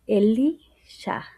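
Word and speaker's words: אֱלִישָׁע: Eliseo en hebreo eh se pronuncia Elisha, que es Dios de salvación.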